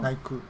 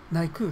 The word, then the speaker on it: 内宮: てから今度あの内宮って書いて内空って読むんですけど内空内空って読み方ですけどねそこに